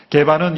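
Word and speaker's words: 게바: 개바는 이 베드로, 우리는 베드로로 알고 있지만 이 개바는 베드로의 아람어식 발음이죠.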